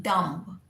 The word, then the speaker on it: dumb: People say D-U-M-B, dumb. No, it is dumb. B is silent.